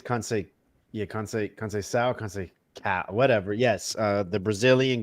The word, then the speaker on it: Conceição: Is that how you pronounce that name? Yeah, I believe it's Conceição, Conceição, whatever.